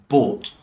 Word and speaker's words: bought: So the sound here of the OUGH is pronounced or. So bought, ought.